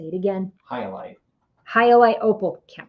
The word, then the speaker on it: Hyalite: Is it halite opal? That's how you pronounce it. Hyalite. Said what? Hyalite. Hyalite. Yeah, Hyalite. Hyalite.